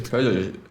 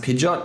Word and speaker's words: Peugeot: Peugeot. I always thought that Peugeot was like pronounced Pidgeot because of like I was a big Pokemon fan.